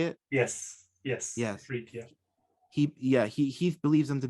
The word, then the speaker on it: Ifrit: He thinks that these 72 are I hope I'm pronouncing this correctly, the Ifrit. They're like, is that how you say it? Yes. Ifrit, yeah.